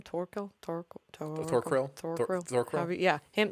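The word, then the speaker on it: Thorkell: So, Yeah, because her and how do you pronounce his name? Thorquil.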